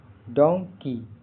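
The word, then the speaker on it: donkey: डी ओ एन के इ वाई का उच्चारण pronunciation डोंकी। डी ओ एन का उच्चारण डॉन जैसा होता है। के की लंबी ई की ध्वनि होता है।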